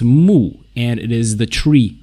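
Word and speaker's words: 木: so the left part of the character is pronounced mu and it is the tree radical or wood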